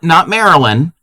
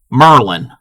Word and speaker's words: Maryland: So our next one is not Maryland, Merlin. Yeah, not like Marilyn Monroe. No, not Marilyn. Merlin.